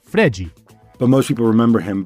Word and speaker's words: Fred: In order to let Neymar thrive, Scolari recruited a yokel of a center forward named Fred to do all the dirty work up top. Brazilians pronounce it Fregi.